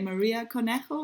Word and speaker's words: Maria Cornejo: Now she went back to work for Zero by Maria Conejo, if I pronounced it the right way.